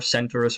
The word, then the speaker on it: Centaurus: constellation of the Centaur, Centaurus, or Kentaurus. When it's spelled with a K, I tend to pronounce it Kentaurus. If there's a C, maybe I'll pronounce it the other way.